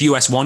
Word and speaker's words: US*1: was like is it us star one is it us number one is it just us one you just ignore the star ignore the star perfect